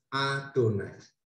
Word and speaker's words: Adonai: yang tertulis adalah yhwh Grey yang dilafalkan yang diucapkan yang dibaca adalah adonais dari kata ketip kalian tahu Kata menulis lalu